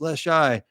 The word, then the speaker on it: Leshy: They were saying, no, he pronounced it right in the episode. And no, he didn't. It's Leshy.